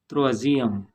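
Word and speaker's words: troisième: Example: त्रोअजियम। त्रोअजियम means third. त्रोअजियम, इस word में एस दो वावेल्स मीन्स आई, दो आई के बीच में आया है तो इसका प्रोनाउंसिएशन यहाँ पे सॉफ्ट है।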